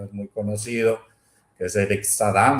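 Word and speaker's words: Sadin: Lo mismo ha hecho un un filósofo francés que les recomiendo lean, no es muy conocido, es Eric Sadam, se escribe Sadim, se pronuncia Sadam, que ha hecho un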